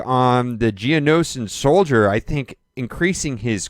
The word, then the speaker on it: Geonosian: Geonosians. I always want to say Genosian, but it's Geonosian.